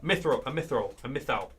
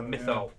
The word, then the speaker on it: mythal: A mythal. That's what it is. It's a mythal.